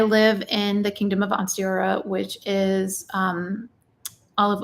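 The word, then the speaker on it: Ansteorra: name pronounced on stayora a-n-s-t-e-o-r-r-a onstiora one star because the Lone Star State and also Oklahoma so uh on stayora and um and sign language it is one star on Sarah there's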